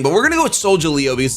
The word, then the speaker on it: Solgaleo: Maybe, I think it's Sol, like solar, and then Galeo, Solgaleo. But you know what?